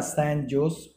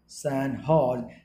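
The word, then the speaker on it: San Jose: recently the सैन जोस pronounce the सैन हॉज state university of which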